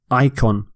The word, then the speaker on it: icon: Icon. So you pronounce it with an I at the start.